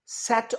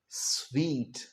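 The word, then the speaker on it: suite: सूट नहीं कहना। क्या कहना है? स्वीट।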